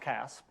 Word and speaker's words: CASP: protein structure prediction where the P got lost in the acronym and is pronounced Casp and uh and the